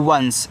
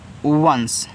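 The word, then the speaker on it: once: ओ एन सी ई इसको पढ़ते हैं वंस ऐसे वंस याद आना है वंस का मतलब होता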